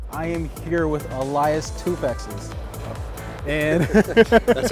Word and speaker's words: Toufexis: I am here with Elias Toufexis.